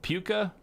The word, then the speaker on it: Puka: DJ Moore or uh puka from Jack is it puka or puka like the shells poop yeah he plays